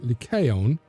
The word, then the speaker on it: Lyceum: The first library in Greece, public or private, is said to have been that of Aristotle at the Lyceum. Actually, would have been pronounced Lyceum, but all right.